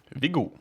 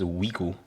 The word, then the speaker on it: Viggo: Anyway, how is Viggo supposed to be pronounced in Norwegian? Vigu. Vigu. Yep. And you used to pronounce your own name as Wigu.